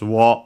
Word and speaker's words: を: And then we have the object particle o, written as wo and pronounced as such in careful speech and also singing.